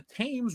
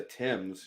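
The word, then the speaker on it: Thames: Kendo a German Navy ship sailed up the tames river blasting The Imperial March lol who says Germans have no sense of humor Chick-fil-A is Holy chicken it's great first it's pronounced the Tims you uncultured swine and two that is hilarious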